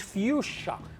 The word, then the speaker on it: fuchsia: I love this word the pronunciation it's very difficult approach so different from Catalan and Spanish say folks here in English is fuchsia what do you think